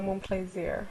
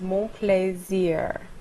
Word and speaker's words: Monplaisir: Okay, my first name is. And my last name is Monplaisir. Oh, I love that last name. Mon plaisir. Monplaisir means my pleasure.